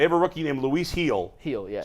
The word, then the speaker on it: Gil: They have a rookie named Luis Gil. Gil, yeah. Spelled Gil. It's pronounced Heel.